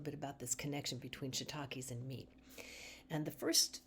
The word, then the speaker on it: shiitake: So let's talk a little bit here about shiitakes. And this, by the way, is spelled with two I's.